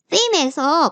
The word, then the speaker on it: theme: 그러니까 이 타이틀 바라던가 이런 부분이 이런 테마에서 테마라고 발음하시는 않죠? theme이라고 하죠. 그쵸? 예. 그래서 스펠링도 THEM이에요. theme에서 보면은, 프라이머리 컬러가 여기에 나타나는구나.